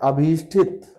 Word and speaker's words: अभीष्ट: आप लिखते हैं अभीष्टित, अभीष्टित लिखते हैं, ये शब्द सही नहीं है। सही शब्द होता है अभीष्ट, और ठा मत लिखिएगा, अभीष्ट। मैंने कल आपसे कहा था